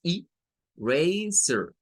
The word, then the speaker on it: eraser: Entonces, esto no es I, sino que es eraser, eraser. Bueno, ¿qué sucede? Esta es la primera sílaba, queda solita. La R y la A nos forma una segunda sílaba. Miren que en ese caso la A suena a es el sonido largo para la vocal.